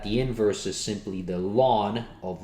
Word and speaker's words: ln: base e and that we write as simply ln which is pronounced lawn so instead of continuously